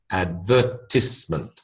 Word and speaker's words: advertisement: r i e rise TI I should be ties but it's not it's in this word we make it tis advertisement advertisement okay advertisement advertisement